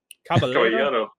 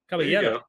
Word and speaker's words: Caballero: How do we pronounce it? Caballero. Caballero.